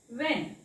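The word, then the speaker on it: when: याला वाचायचं आहे व्हॉट व्हेन व्हॉट व्हॉट व ने ह ने वाचायचंय ह चा उच्चार लिहायचा नाही याला वाचायचंय व्हेन व्हेन व्हेन डिड यू गो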